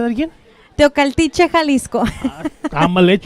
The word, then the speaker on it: Teocaltiche: Teocaltiche, Jalisco.